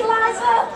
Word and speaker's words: Liza: It's Liza with Z, not Lisa with an S, cause Lisa with an S goes snuff. It's Z instead of S, Lie instead of Lee.